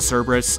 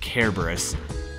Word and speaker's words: Cerberus: I was taking a Latin class with a teacher who was from Greece, and she insisted it was pronounced Kerberos.